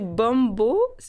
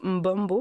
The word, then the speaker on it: Bombo: Mais tu me l'apprends, mais je sais pas si tu dis bombo, parce que c'est B-O-M-B-O, puis on prononce mbombo même, la bonne façon de prononcer.